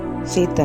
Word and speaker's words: Tsetan: ही hired टेंसन्स कार, उन्होंने अपनी यात्रा को कंप्लीट करने के लिए सेतन, है ना, इसमें स्पेलिंग देखो TSETAN है, टी साइलेंट रहेगा, सेतन पढ़ेंगे इसको ना।